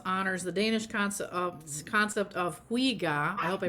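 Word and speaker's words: hygge: It's spelled Hyggge, but it's pronounced Huga, Oh, Hugo.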